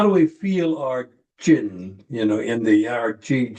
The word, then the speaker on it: ji: next posture which is chi which is spelled ji which is corresponds to